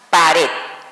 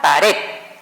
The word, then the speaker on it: pared: Se pronuncia al final a fuerza y termina en cualquier consonante, que en este caso fue la D, ¿ok?